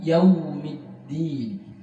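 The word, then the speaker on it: يَوْمِ الدِّينِ: Maliki yaumiddin, dal juga diperhatikan dengan baik, bukan din, maliki yaumiddin, tapi maliki yaumiddin.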